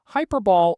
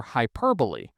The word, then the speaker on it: hyperbole: fought was common sense hyperball or hyperbole pronounced by Julia Gillard as hyperball it is of course